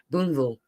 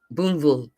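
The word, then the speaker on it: Booneville: You're not supposed to say the L somehow. Boonville. Boonville. I'm not.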